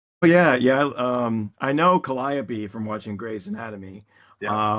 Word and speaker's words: Calliope: think they're said this way, like it's supposed to be Calliope, but we pronounce it Calliope, or the street name is spelled like Milan, but we pronounce it Milan.